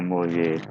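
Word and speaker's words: Mollier: Molière, bacanya Molière diagram. Tulisannya Molière diagram.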